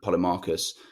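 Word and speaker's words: Polemarchus: of other people like keus and and um poly Marcus that's how you pronounce it about what Justice is and he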